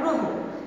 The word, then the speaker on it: গ্রহ: শব্দের প্রথমে যদি অযুক্ত র ফলা থাকে, তবে অ এর উচ্চারণ কিসের মতো হবে? এর মতো। যেমন খেয়াল করো গ্রহ, আমরা জানি গয়ের সঙ্গে একটি অ ছিল এবং তার সঙ্গে একটি র ফলা আছে।